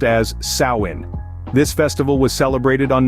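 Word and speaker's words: Samhain: to the ancient Celtic Festival of Sam Hae pronounced as sawin this Festival was celebrated on November 1st marking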